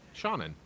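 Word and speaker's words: Seanan: It's Sean, S-E-A-N, but with another A-N. Shannon.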